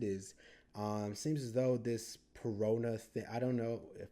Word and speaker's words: Perona: And then we got introduced to Pelona. Actually, on the Discord, I was told that it is more properly pronounced as Perona, and I'm just referring